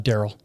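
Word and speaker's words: Dariel: can you pronounce it uh daryl but it's spelled out it's d-a-r-i-e-l so all my life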